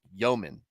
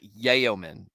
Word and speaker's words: yeoman: I'm like it's yobin like yo man like yeoman not yaoman what is going on in